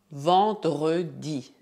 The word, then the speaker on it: vendredi: Em francês, dizemos vendredi. A combinação E mais N faz o som nasal en. Portanto, dizemos vendredi. Se você tiver dificuldade para pronunciar essa palavra, não hesite em dividí-la em sílabas.